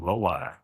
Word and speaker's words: Lai: It's actually Lai. Lai. Yeah. No one pronounces it correctly, but it's Lai.